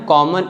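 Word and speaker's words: calm: According to the rule the letter L is silent when it comes after the letters A, ओ एंड यू। जो letter L है अगर ए, ओ एंड यू के बाद आता है तो लेटर एल साइलेंट होता है।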